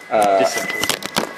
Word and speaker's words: dissection: dissection. Dissection? Dissection, because it's dissection as opposed to die to... It would be bisection.